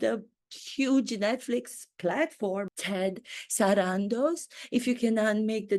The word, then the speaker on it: Sarandos: and see my authenticity does anybody else pronounce your last name sarandos I don't believe so I think they pronounce it Sandos I pronounce it the way it's meant to be pronounced authentically sarandos as it spelled phonetically that's what I have